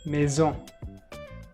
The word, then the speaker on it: maison: Maison, maison. So here it's not nasal again because of the letter E.